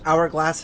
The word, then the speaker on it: hourglass: with the letter H, which hourglass is one of those, but is silent, of course.